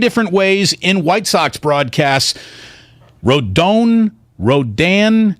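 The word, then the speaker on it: Rodón: Rodan, how do we get it perfect when you start for the Giants? You said it right the first time, Rodan, we got it, man.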